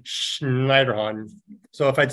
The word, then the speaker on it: Schneiderhahn: He's of German heritage, so I like to say his name Schneiderhahn.